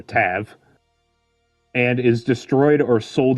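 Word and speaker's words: Ptavv: If the power does not manifest itself in a young Thrent, that Thrent is labeled a Tav, P-T-A-V-V, so I'm assuming the P is silent, so Tav, or Tav, and is destroyed or sold into slavery.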